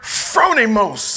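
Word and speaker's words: phronimos: was intentional right it was a Greek word fronimos amen p h r o n i m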